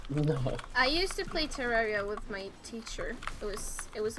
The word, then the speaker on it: Terraria: Pronounce as you want. I really don't care. RA is raw. Like rah. Terraria. Terraria.